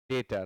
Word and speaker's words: debt: डेटर, डेटर, अच्छा डेट से बना है, तो DEBT को डेट पढ़ते हैं, बी यहाँ साइलेंट होता है।